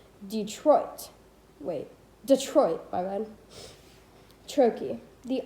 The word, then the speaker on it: Detroit: unstressed syllable followed by stressed syllable dumb as in delay or pronounced correctly detroit wait detroit bye-bye trochee